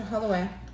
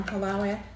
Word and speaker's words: halwa: It is similar to halwa or halawa, however you want to pronounce it.